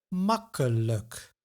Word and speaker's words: makkelijk: Makkelijk. Pijnlijk. Nauwelijks. Now this is a video on the I sound, but the suffix like is pronounced as luk.